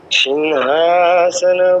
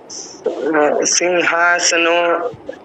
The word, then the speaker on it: সিংহাসন: লাইনের প্রথম শব্দটা কি সিংহাসন হ্যাঁ এখন ঠিক আছে কিন্তু পড়ার সময়শি হয়ে গেছিল সিংহা হয়ে গেছিল মানে দন্তসুর উচ্চারণটা ঠিক ছিল না ওকে আরেকটা কি ছিল